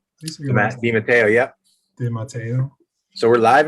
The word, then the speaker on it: DeMatteo: I probably butchered it. DeMatteo? DeMatteo, yep.